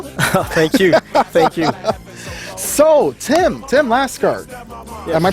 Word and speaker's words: Laskar: My name is Tim Laskar.